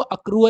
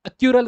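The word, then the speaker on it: accrual: में दिक्कत होती है बहुत सारे बच्चे इसको अक्रू की जगह अक्यू कर देते हैं और स्पेलिंग भी एक्यूरल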